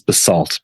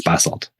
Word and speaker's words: basalt: Most of the rock is bassalt or in the US pronounces basaltt but it's bassalt and this stuff is